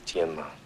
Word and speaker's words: Tienma: The correct pronunciation is Tienma.